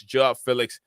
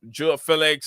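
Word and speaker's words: João Félix: Not Joe, it's Joao Felix.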